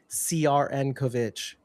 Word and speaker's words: Crnkovich: It just makes me mad because then how do you explain CRN Kovich? That makes zero sense. What? Cernkovich? His last name is spelled CRN, not CERN.